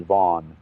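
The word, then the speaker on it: Vann: man in prison in Indiana um Darren Deon van it's spelled van v Ann but he pronounces it vau he's in prison for in Indiana for the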